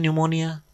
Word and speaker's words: pneumonia: If P is silent, why you are writing P in pneumonia silent?